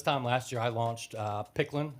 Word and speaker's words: PKLN: So about this time last year, I launched Picklin. It's PKLN. Okay. It's pronounced Picklin.